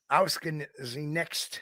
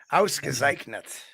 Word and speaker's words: ausgezeichnet: Ausgenext. Oh, I can't even pronounce that, especially with sweet Bavarian mustard. Yep. Ausgezeichnet.